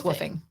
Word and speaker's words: WWOOF: What is woofing? Woofing is spelled WWOOF.